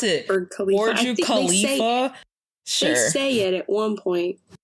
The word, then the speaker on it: Burj Khalifa: or I don't know how to pronounce it. Burj Khalifa.